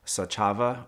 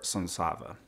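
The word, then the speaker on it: Saczawa: It is Polish. It is missing a Z, S-A-C-Z-A-W-A, and it would have been pronounced, depending on where you were from in Poland, Sachava or Sonsava.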